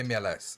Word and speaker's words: MLS: Eu queria saber como é que funciona esse Omelets. É Omelets? A pronúncia tá certa? MLS. MLS. MLS.